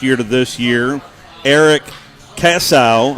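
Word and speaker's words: Kiesau: to this year eric cassow i hope i'm pronouncing that right it's k-i-e-s-a-u he is the offensive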